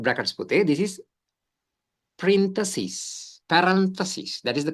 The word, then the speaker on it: parentheses: This is parentheses. Parentheses. That is the correct pronunciation.